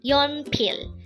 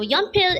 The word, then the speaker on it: 연필: YEONPIL. YEONPIL. This pronounces a two-syllable word. The first syllable is yeon, second syllable is pil. Pronounce it with me. YEONPIL. So YEONPIL is simply the Korean term for a pencil.